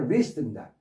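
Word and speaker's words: wrist: 그다음 W가 발음이 안 돼. 리스트입니다.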